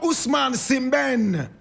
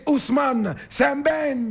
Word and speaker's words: Ousmane Sembene: He's called Ousmane Sembene. Ousmane Sembene. Ousmane is spelled O-U-S-M-A-N-E.